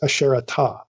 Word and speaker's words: Asherah: preferable to render the goddess's name as a sharatha in accordance with the spelling and reading of her name everywhere outside the bible for more than a thousand years the tradition of reading and pronouncing this name as asherah is one that derives directly from the bible in the translations below